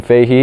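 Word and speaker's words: Fahy: When we migrated over, my last name Fahey is very Irish. When we migrated over, we stopped at Ellis Island because that's where everyone migrated at the time. And it was actually spelled F-A-H-Y and pronounced Fahey.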